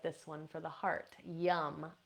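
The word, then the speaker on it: yam: Yum, I always like this one for the heart, yum, Y-A-M, pronounced yum.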